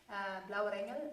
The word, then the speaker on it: Blauer Engel: Blauer Engel.